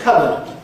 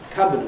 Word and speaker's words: cupboard: And there's cupboard. Cupboard, of course, is a very common word. And it hasn't been pronounced cupboard or something like that since the time of King Alfred, 1,000 years ago.